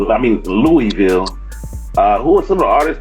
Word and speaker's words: Louisville: major recipe static major oh man he's from louisville a lot of people don't know that hold on they said you gotta teach me how to say louisville how do you say it man am i